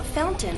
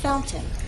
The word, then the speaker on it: fountain: The standard pronunciation is fountain with a true T, fountain. The other pronunciation is what you'll hear in fast speech, fountain. This is more typical of everyday informal English, fountain.